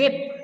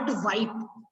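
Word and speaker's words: whip: इट इज विप, नॉट वाइप. वाइप तो होता है हम वाइप करते फेस को, जो पोंछते हैं ना, दैट इज वाइप.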